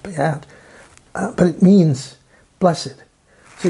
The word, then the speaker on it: béat: And French, in French Canadian, B-E-A-T means something. Béat. It has an accent and it's pronounced Béat. It's not pronounced beat, but it's pronounced Béat.